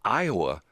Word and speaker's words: Iowa: Iowa is 4 letters, but it's 3 syllables.